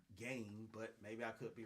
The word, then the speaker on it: Gane: I'm going to say it's Gane, not Gain, but maybe I could be wrong on that. But he's taking on Cyril Gane, but also he's going to be competing in the heavyweight weight class.